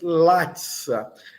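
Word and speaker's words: laca: Mi estas latissa. Mi estas latsa. C tem um som de TS, como vocês estão percebendo.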